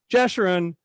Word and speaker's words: Jeshurun: culotte you sure une gesturing how do you pronounce that assurance Jeshurun of New York City did I get it